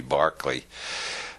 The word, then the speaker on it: Berkeley: of Berkeley is named because Americans don't know how to pronounce Irish names it should be Barclay Bishop Berkeley proved the